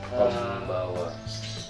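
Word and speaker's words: こんばんは: Ya, contohnya setiap ini huruf N bertemu huruf P atau B akan menjadi M. Dibaca M. Gitu Pak. Iya. Kayak ikhlas. Iya. Ya. Ini huruf N ketemu B sama B. Ya, P itu maksudnya apa? Kombawa.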